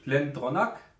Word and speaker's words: GlenDronach: das ist der glenonak also auch wenn er Glen dronach ausgeschrieben wird aber ich habe heute extra noch mal nachgelesen ch am Schluss wird als K ausgesprochen drum heißt es auch